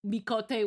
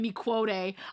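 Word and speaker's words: Miqo'te: And until I heard it was called mikote, I was like, "Oh, thank God." I knew I was saying it wrong, but I couldn't think of any other way to say it other than mi quote.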